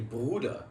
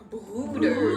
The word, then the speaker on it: Bruder: In German, we say Bruder. Bruder. Bruder. Yeah, Oh. it's a deep U.